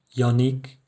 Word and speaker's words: Yannick: pronunciar de dos formas por ejemplo mi nombre que es qué como una j yannick como y en español perdón y después tenemos